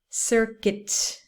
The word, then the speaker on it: circuit: a short video okay the first two words are pronounced in a similar way with the uit ending biscuit circuit okay so cuit biscuit or circuit okay when it's uit